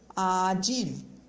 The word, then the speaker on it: acil: Acil, emergência, tá? Então, você percebeu que o L, ele não tem som de U, ok?